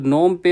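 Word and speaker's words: Phnom Penh: तो नोम पे होगा। देखो साइलेंट होता है ये पीएच।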